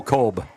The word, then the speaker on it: Cobb: Joe Cobb. Goank. Coach Shank has worked with me on that name. I don't think it's Coob. I think it's Cob.